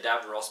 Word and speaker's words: Davros: Daleks is I really some say damn drawers but I for some reason i say Davros because i think it's the way that Sylvester McCoy pronounces Davros and it's how stuck with me so what happens is